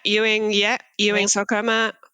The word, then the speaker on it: Ewing sarcoma: But born and raised in South Africa, lost your leg to Ewing sarcoma. Is that how you say it? Yeah, Ewing sarcoma.